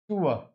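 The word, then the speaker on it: tour: आप जब बहुत ही अच्छी तरीके से रेगुलर इंग्लिश बोलेंगे तो आप ऑटोमेटिक जो है इस प्रोनाउंसिएशन पे आ जाएंगे आप। टूअर, यहाँ पर ओ यू आर क्या बन गया आपका, टूअर, टूअर।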